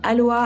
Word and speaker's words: Aloa: la contraction de aloe vera donc le mot Aloa c'est la contraction de Aloé et Vera et ça se prononce aussi comme Aloa avec un avec un H donc a l